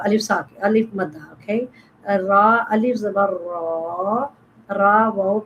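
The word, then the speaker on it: ر: Then Ra. Ra, when you pronounce this Ra and your tongue, tip of the tongue, touching the no bend on the back side like and do the vibrate Ra, Ra, Ra, Alif Zabar Ra.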